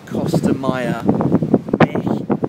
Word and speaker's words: Costa Maya: Baby, I will climb the Costa Maya, Mexico, which is how you pronounce it in Mexico, and I'm here to find the Mayan temple, which I've actually done behind me.